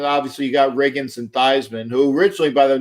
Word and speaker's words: Theismann: just didn't happen but it rigidly was Joe Theismann but that's that's really how to pronounce his name um really it really his